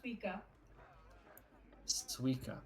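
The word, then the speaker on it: Suika: a name all right his name is sua Suka but you spell it s UI k a Mickey I'm sorry what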